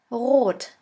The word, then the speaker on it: rot: And the German word with the letter R is rot. Rot, which means red. S. S is pronounced like the sun.